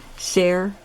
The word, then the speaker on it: Sayre: day, but someone else in later years wrote Sayre, Oklahoma, and it's spelled the same way as the Sayre that I live in, S-A-Y-R-E.